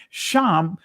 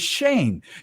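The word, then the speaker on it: שם: The Hebrew word is sham and the Israeli pronunciation is shame.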